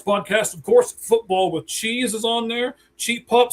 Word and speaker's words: Cheez: Cheez, like cheese, it's spelled like that.